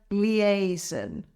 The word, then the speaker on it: liaison: And word number 10 is the word liaison. This word is also a little bit difficult to pronounce.